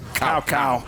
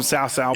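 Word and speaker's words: Cao Cao: To be fair, Dynasty Warriors pronounced one dude's name as Cow Cow. That's not how you pronounce his name. Ironically, starting 6, I did always pronounce him Sao Sao.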